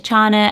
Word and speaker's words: Chana: I like it it's Chana and it rhymes with Anna from fasen so a